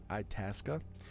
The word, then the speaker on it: Itasca: When you don't know how to pronounce shit. Itasca?